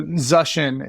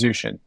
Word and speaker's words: Zuschin: last name I love that post yeah so zushin is the correct pronunciation the most common mispronunciation is zushin but probably because of like spell check I